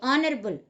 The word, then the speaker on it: honorable: If it is silent, an honorable person, H-O-N-O-U-R-A-B-L-E, honorable, H is silent.